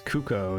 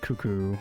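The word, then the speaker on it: Cucco: with 10 uh right cuz it is cucko that is technically a pronunciation I've always said cuckoo maybe maybe that's why I'm like Mandela affecting myself because I always say cuckoo even though it's cucko so I always forget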